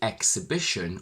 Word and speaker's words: exhibition: g exhibit exhaust exhilarating but we say exhibition with x because this word contains a secondary stress i will link here